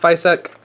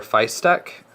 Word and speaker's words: Fysetc: just absolutely standup people I think it's pronounced FEC I'm not 100% sure I do know that I used to be wrong I used to say f or Feist STC which that's kind of